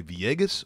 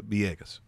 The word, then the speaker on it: Villegas: You could say Villegas, or sometimes if you're speaking Spanish, sometimes the V sounds a little B-ish. So Villegas.